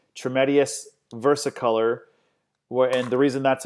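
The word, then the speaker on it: Trametes versicolor: mushroom and it's for immune support and it's pronounced tremendous versicolor well and the reason that's important is because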